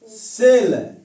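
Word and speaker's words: cell: जैसे सी के आगे पहला क्या ई है, सी ई डबल एल, इसे पढ़ेंगे सेल, इसका उच्चारण क्या है सेल, इसका उच्चारण क्या है सेल।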